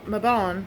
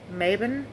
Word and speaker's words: Mabon: Now, Mabon or Maben, depending on how you pronounce it, the autumn equinox is marks the balance between light and darkness in the end of harvest season.